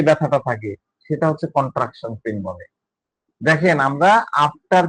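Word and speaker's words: contraction: কন্ট্রাকশন আছে, উচ্চারণটা হবে কন্ট্রাকশন। হ্যাঁ, after pen ইজ এ কন্ট্রাকশন।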